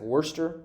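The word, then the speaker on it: Worcester: pronouncing this wrong but i think it's like wurster the wurster town meeting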